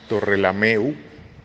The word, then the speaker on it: Torrelameu: pueblo de torre lame o se pronuncia en catalán torrelameu con o al final en la provincia de